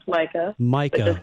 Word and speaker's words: Majka: It looks kind of intimidating when you see my last name. It's Majka. It looks like Majka, pronounced Majka.